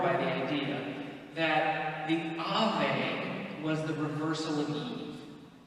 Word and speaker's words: Ave: And Mary, when she's greeted by the angel, is greeted with Ave, A-V-E. And the Latins were just, again, wowed and floored by the idea that the Ave was the reversal of Eve.